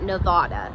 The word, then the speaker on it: Nevada: Nevada is pronounced just like I said it, Nevada. If a lot of out-of-towners call it Nevada, and what will happen